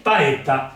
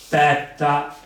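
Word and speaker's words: paétta: Allora, potrebbe ingannare e io potrei leggere petta. A parte il fatto che non posso leggerla lunga perché c'è una doppia consonante e non Ci potrei. mettiamo l'accento. Però mettiamo di trovarla con una consonante sola.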